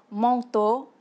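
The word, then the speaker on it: măng tô: Et le mot manteau se dit en vietnamien manteau, qui se prononce presque pareil comme en français.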